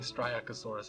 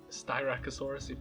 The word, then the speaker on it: Styracosaurus: striatosaurus I think styracosaurus I keep saying striacosaurus I've said that since I was really young I misread it once and that's just stuck in my head so styracosaurus if I say if I